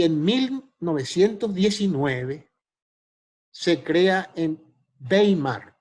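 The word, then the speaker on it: Weimar: 1919 se crea en bay marc by marc se pronuncian alemán una escuela que se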